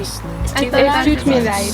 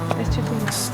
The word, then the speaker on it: Es tut mir leid: Es tut mir leid. Ah. Es tut mir leid.